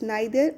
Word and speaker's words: neither: Okay, it's neither or neither, both are correct pronunciation.